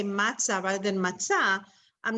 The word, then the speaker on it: matzah: memorize let's say so the correct way to pronounce is matzah so you just want to remember it that you say matzah or or you say